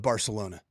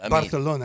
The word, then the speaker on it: Barcelona: pronounce the city of Barcelona with the way that I installed to you that lisp? Barcelona. No. Give me a TH where it's sa.